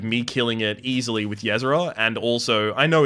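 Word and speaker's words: Ysera: of range of me killing it easily with yzer and also I know it's pronounced Yer don't worry um and also did damage to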